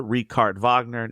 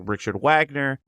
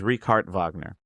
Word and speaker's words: Richard Wagner: The bridal course written by the famous German composer Ricard Vagner. No, his name looks like Richard Wagner, but it is not pronounced that way. It's Ricard Vagner.